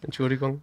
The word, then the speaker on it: Entschuldigung: Entschuldigung.